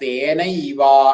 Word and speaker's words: തേനൈവ: പിന്നെ തേന ഏവ, തേന ഏവ കൂടി വരുമ്പോ ഐ എന്നായിട്ട് മാറും. തേന ഏവ, അകാരവും മാറി ഏവ എന്നുള്ള ഏകാരവും മാറിയിട്ട് പകരം ഐകാരം വരും. അപ്പൊ തേനൈവ എന്നാവും.